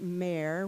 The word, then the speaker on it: Meyer: And so here they are, Ernest Simon and Eve Meyer, but we pronounced it Mayer once the family moved to this country.